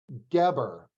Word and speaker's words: Geber: Sara Zeff Geber, right? Did I pronounce it?